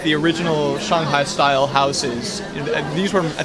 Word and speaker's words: Shanghai: So Shanghai is the American way to say Shanghai. Oh, so it's not how you say it. So it's Shanghai.